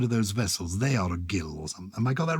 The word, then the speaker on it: gill: ounce we've now had the gill pronounced gill not jill i think it's the